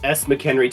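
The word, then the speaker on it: SMcKenry: the next one from SM chenry am I am I saying that right it's s McKenry 2014 so yes I said it right with Catana and you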